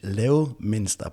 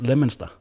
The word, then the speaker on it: Leominster: in as i would say pronounced in danish leo minster but it's pronounced leminster yeah in in the uk we don't speak